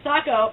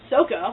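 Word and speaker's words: Sokka: and her older brother sako or as they pronounce it in this movie soko that's a side note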